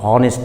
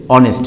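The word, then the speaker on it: honest: যেমন এখানে যদি নিজস্ব উচ্চারণটা আসতো এইচ মানে হনেস্ট হতো, ঠিক আছে, হনেস্ট। এখানে কিন্তু হনেস্ট উচ্চারণ না হয়েছে অনেস্ট, তাহলে ও অর্থাৎ ভাওয়েলের উচ্চারণটা আসছে এখানে, ভাওয়েলের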